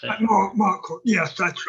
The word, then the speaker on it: Marquand: It was Ralph Marcade or how to pronounce that. What was his? I'm trying to think. Oh, so Richard Marquand, I think that's how you pronounce it. Marquand, yes, that's right.